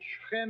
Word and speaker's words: Shechem: The Romans conquered Shechem and called it Napulus, Naples. The Arabs have difficulty pronouncing a P, so Napulus became Nablus.